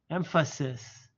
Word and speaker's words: emphasis: correctly I would say you start soft you enunciate the F and you end with a sis emphasis so what I want